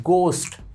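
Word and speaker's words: ghost: सही आंसर बताने में इसको पढ़ने हैं गोष्ट क्योंकि हा इसके अंदर साइलेंट होता है क्या पढ़ा जाएगा गोष्ट तो ईमानदार रहना ईमानदारी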